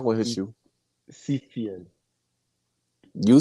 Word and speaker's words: Siefyan: that you said Seafair I mean you said Seafood but the the correct pronunciation is CPN but I prefer safety on safety but if you want to call me seafian you can do that okay whichever you prefer